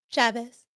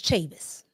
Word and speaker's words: Chavis: Instead of Chavez, it's Chavis.